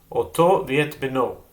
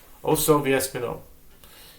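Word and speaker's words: אותו ואת בנו: We start the next chapter of Chullin right away with the Mishnah, which said, and this chapter is called Oto Viet Beno, or Osoviet Spino, depending on your pronunciation.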